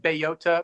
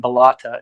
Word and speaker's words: Bellota: And it's called, I call it Bellota because it's a Spanish word for acorn. And I looked it up and that's how they pronounce it in Spanish. But I like the pronunciations Bellota and Bellata as well, both of which I've heard. So I don't mind how people say it, but I'm just going to say Bellota.